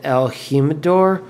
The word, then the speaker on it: El Jimador: I know it's not El Jimador, so I'm going to go with El Jimador. I believe that's the correct Spanish pronunciation.